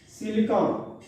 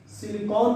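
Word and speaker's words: Silicon: कहे carbon Shiv सिलिकॉन। सिलिकॉन भी बोलते हैं, लेकिन सिलिकन, सिलिकन इसका सही प्रोनाउंसिएशन है, लेकिन हम सिलिकॉन बोल लेते हैं।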